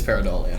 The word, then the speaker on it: pareidolia: I think I'm Oh pronouncing yeah, that. it's pareidolia.